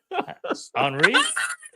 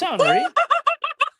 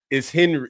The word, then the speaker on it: Henri: Just so you know, you said his name wrong too. Henri. It's Henri. It's Henry.